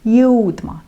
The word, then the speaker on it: jõudma: Да, немножко сложновато произносить этот глагол. Там и йодь, там и там и у. Jõudma, jõudma.